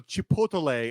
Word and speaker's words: chipotle: You do not say chipotle. You say chipotle. Just say it like a normal person. Chipotle, like a goddamn Minnesota. Chipotle.